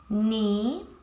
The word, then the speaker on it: knee: Letters that you don't pronounce. I'm going to read it for you once. Knot, like when I tie a knot. Knee, knife, knock, night.